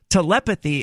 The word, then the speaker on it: telepathy: That's why I said telepathy a moment ago, because telepathy is pronounced one way, while telepathic is pronounced an entirely different way.